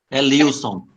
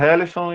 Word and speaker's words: Elilson: A pronúncia é Helison ou é Lilson? Elilson. Rapaz, esse filho da mãe, sempre eu digo para ele, chamando Helison, e ele nunca me disse nada.